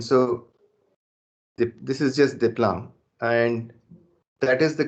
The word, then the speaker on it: Desplanques: french point of view d e s is actually pronounced day and q-u-e-s is actually pronounced k and so the this is just diplom and that is the